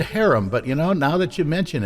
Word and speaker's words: Harum: A Whiter Shade of Pale by Procol Harum, however you want to pronounce it. I've always said harem, but now that you mention it, it's harem.